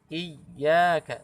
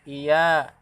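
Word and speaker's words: إياك: Ini huruf ya tasydidnya harus ditekan. Iyyaka, tidak boleh iya, tapi iya ditekan.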